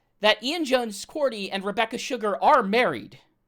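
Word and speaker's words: Quartey: Ian Jones Quarterly directed it. So, Cordy directed it. I've been saying his name wrong for years.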